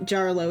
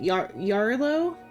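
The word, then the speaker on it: Jarilo: Is it It's not Jarlo. It's what? Yarlo H or Yarlo is the pronunciation of of the the planet.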